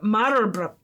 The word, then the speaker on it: Marlborough: So, see, in British English, the pronunciation is closer to Marlborough. Marlborough? Go with Marlborough. Marlborough? Okay. Go with Marlborough. How the hell is it going to be a thing telling us how to pronounce it and then give us two different pronunciations? Well, the one is, I assume, American, and that says British English is the Marlborough. Okay, Marlborough. I was adding an extra R in there.